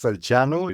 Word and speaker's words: Salceanu: get all the time what's your name it's Sanu it's a Romanian name and I'm I'm a